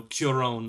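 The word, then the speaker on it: Cuarón: would pick uh Alfonso curon as well it's like it's like qw oh they spelled with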